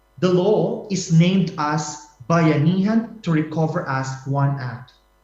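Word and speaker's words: bayanihan: our country the Philippines the word bayanan is pronounced like bayanan I hope you could pronounce it well bayanan is a Filipino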